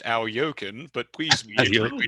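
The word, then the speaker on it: Alekhine: That is definitely not how his name's pronounced, but hey, he will forgive me. Maybe. Technically, I have a note, technically pronounced Al Yokin, but please be Al extremely generous.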